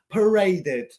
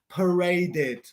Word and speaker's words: paraded: of parade the past tense of parade is pronounced paraded the past tense of parade uh Des filo pero in English but yeah the past tense of parade is pronounced paraded is this true correct or is this false